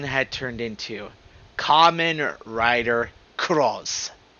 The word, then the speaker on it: Cross-Z: turned into Kamen Rider Cross. And I'm saying that with Cross-Z. The proper way to say it.